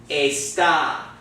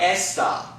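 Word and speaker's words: está: that accent mark so this word is going to be pronounced a stop not not esta okay because remember our vowels make what sound a e oh so it's gonna say a stop everybody's saying that a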